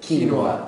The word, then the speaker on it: quinoa: your local uh food stores how do you pronounce that quinoa quinoa yeah he always makes fun of me I